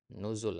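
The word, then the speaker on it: نزول: berapa koreksi yang pertama dikata nuzul ya tadi Antum benar bacanya cuman kurang panjang ya nuzul Antum bacanya Ya ada wau di situ jadi Antum harus panjangkanah sebagaimana kita sampaikan di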